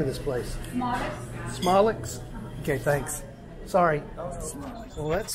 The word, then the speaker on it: Somlik's: mathis texas i'm sorry how do you pronounce the name of this place smallx okay thanks sorry well that's squeaky noise it's